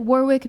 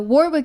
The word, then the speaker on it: Warwick: I pronounce it Warwick because I refuse to acknowledge that the UK cannot remember to pronounce the extra W in the word. That's so stupid. So Warwick University.